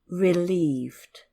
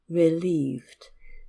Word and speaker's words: relieved: mm-hmm now let's look at one point of pronunciation the word relieved relieved this is a little difficult for Koreans right isn't it because you've got the rough sound and the less sound relieved relieved yeah for okay yeah mmm-hmm and um vocabulary